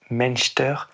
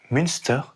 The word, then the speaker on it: Münster: De mon côté, je réalise ce 32e épisode à Münster, prononcé en alsacien Münster et en allemand Münster.